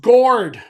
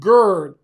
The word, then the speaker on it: gourd: It's pronounced gourd. Rhymes with Lord, not gird.